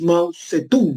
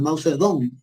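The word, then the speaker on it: 毛泽东: No es Mao Zedong, ¿no? Sino es Mao Zedong.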